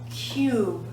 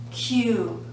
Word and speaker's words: cube: But when we add the silent E to the end, it becomes cube, cube. Cub changes to cube.